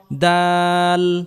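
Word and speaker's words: دال: দাল দাল দাল দাল জিহ্বার আগা সামনের উপরের দুই দাঁতের আগা থেকে উচ্চারণ করতে হবে।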